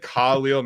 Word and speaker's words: Khalil: I should never have doubted the GOAT, Iron Eagle, but he said Khalil Mack his entire career, and it has always bugged me. But apparently that is how you say it. He asked Khalil Mack, and Khalil Mack